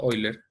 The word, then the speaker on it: Euler: de un matemático que se escribe euler pero se pronuncia hoy leer los de óscar